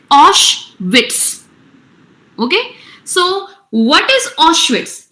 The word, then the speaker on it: Auschwitz: his father into Auschwitz its pronunciation is Osh wits okay so what is